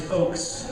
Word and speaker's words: Ochs: Mine is Ochs, like O-A-K-S, and hers is Ehrlich.